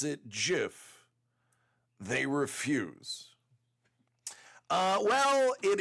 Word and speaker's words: GIF: place and it was because of people who pronounce it Jiff they refuse uh well it is Jiff uh the Creator says it's Jiff so I'm gonna go with the guy who